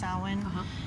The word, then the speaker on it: Samhain: salvan it's it looks like Samhain but it's pronounced Tywin and it's the witch's New Year okay all